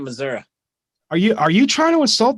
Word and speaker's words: Missouri: And she pronounces it misery.